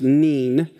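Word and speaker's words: נין: The word for son here is noon, or neen. Actually, it's neen. It's pronounced neen.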